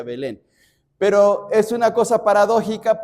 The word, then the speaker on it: Belén: En el hebreo no es Belén, sino es Betlejem. Betlehem. Bet significa casa, lejem significa pan, casa de pan. Pero en la en la estructura del español se reduce la palabra y se pronuncia Belén.